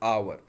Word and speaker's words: hour: Okay, the sound of the word, it is vowel, so we must use article an, like hour. Hour, here the consonant, the pronunciation of the word hour, it is a, not h, because h is silent.